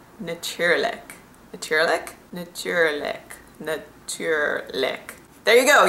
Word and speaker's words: natuurlijk: that of course is the best translation for natuurlijk. I pronounced that really country, didn't I? Natuurlijk. Natuurlijk?